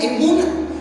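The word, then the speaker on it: אמונה: Fe, cuando yo estudiaba este tema, estudiaba que fe es la palabra hebrea que se pronuncia emuna, que significa firmeza, significa seguridad, significa fidelidad, significa reino, veracidad, honradez, lealtad.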